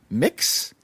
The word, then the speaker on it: Mx: How do you pronounce that? Mix.